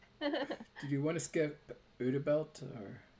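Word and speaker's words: Übel Blatt: Did you want to skip Udabelt or how do you say that? Ubelblatt.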